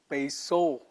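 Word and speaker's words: πείσω: But this peitho, when it appears in its future form, the theta will be replaced by a sigma, and it will be pronounced as peiso.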